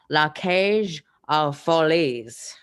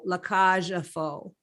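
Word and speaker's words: La Cage aux Folles: La Cage aux Folies. Okay. You totally mangled that. Did I really? La Cage aux Faux. That's how you say it.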